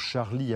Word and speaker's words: Charlie: s'est levé pour charlie je prononce charlie avec l'accent français le sjo discret et le a ouvert charlie que la plupart des